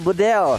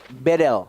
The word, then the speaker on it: Bedel: Dari mahasiswa Turki, dia bilang, Bang Kornet bacanya bukan Bedel, Jadi? tapi E-nya dibaca semuanya E. Jadi Bedel. Bedel.